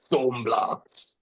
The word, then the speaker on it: Thaumblast: Thornhill Blast Thornhill Blast Thornhill You can pronounce it however you want brother but Thornhill Blast is the official pronunciation.